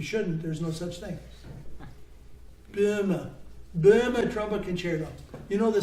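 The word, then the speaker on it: Böhme: You say the E at the end in German. So Burma, and it's an umlaut. It's been anglicized by B-O-E, which we don't know how to pronounce it, but try to avoid saying BAME or BOEM or boom. It's a word we don't use. Just think E, Burma.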